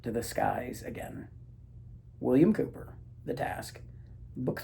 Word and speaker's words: Cowper: I don't know why Cowper is pronounced Cooper. And I guess I don't even really know that it is. But I've just always been told it's not Cowper, it's Cooper.